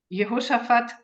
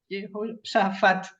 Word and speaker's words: Yehoshaphat: Ben-Gurion, Ezekiel Kaufman, and Yehoshaphat Kabi. Thank you. And now, Yossi, the floor. I've pronounced it wrong. Yehoshaphat.